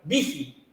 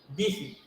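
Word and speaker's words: Büchi: Vigi, se pronuncia. Vigi.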